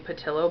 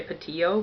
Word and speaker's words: Pattillo: by Melba Pattillo Beals I feel weird saying Pattillo but I think that's what she says I was want to say patio but I believe that's how she pronounces it she was one of